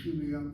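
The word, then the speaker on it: כימיה: But the proper spelling, based on the dictionary I have in Ben-Yehuda's dictionary, pocket dictionary, the word should be chemia, put the dagesh kaf in that kaf letter.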